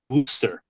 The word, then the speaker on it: Worcester: looks like it's but I've been corrected by you know those new englanders it's Worster I'm uh I'm actually